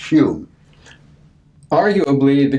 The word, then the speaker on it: Home: home or human out spelled hom e pronounced cube are you a bleed